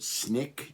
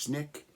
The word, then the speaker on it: SNCC: nonviolent coordinating committee sncc it's called snick generally pronounced snick uh there's a guy